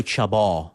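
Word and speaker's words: Chabon: can talk about Michael Chabot. Yeah. So you're saying you don't pronounce the last N? No, you don't in Francais, for God's sake.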